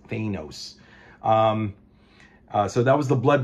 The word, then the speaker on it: Thanos: Thanos, by the way, not Thanos, guys. Thanos. That's the proper way of saying his name. Fucking MCU, these dumbass Marvel movies ruined it. It's actually pronounced Thanos.